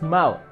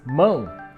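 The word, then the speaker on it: mão: no no no no it's not just mao it's moon nasal sun guys you have to get it right because without the nasal sun it changes in meaning for example moon is hand this one but mao is bad or evil those are two different words so if you say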